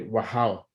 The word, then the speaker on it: Wachau: es muy interesante, que son los vinos de Wachau. Did I pronounce it well, Annemarie?